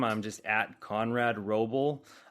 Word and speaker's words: Wrobel: I'm just at Conrad Roble uh spelled with a W like wrong and if you spell